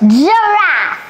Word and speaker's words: giraffe: Giraffe. Giraffe. All right, and the intonation is giraffe, okay? Giraffe. Et le i là, ce n'est pas J, ce n'est pas girafe.